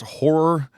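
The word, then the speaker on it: HO99O9: I like Death Grips, and I think it's pronounced horror, but it's HO9909. Okay.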